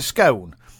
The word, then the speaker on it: scone: my example would be how do you spell stone st o any how do you say it you say stone therefore it's a scone and then other people give silly examples and say howdy spell gon gon e so it's gone yes no it's gone